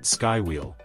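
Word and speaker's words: Skwheel: designed by Parisian startup squeal pronounced SkyWheel the wheel one package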